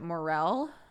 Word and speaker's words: morel: of those situations where I've always pronounced moral mushrooms the way that I say it, right? Moral. And I'm realizing I had said it out loud so rarely, and other people say it out loud so rarely, that I didn't realize how many people pronounce it morel.